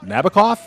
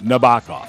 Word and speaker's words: Nabokov: and I would ask is it pronounced Nabokov it turns out no it's no baka so we will love